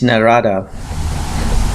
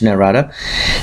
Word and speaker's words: Narada: to know from sage narada not at money as some people called him as sanskrit but for the benefit of the West who would be more familiar with his name Narada I will be pronouncing him as Narada so the gods came